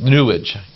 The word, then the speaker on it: New Age: ladder with 7 runs the New Age movement nua JH because it rhymes with sewage says you have to